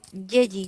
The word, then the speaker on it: Yeji: Ah, Yeji. Oh, ¿Yeji es su nombre? Así se pronuncia.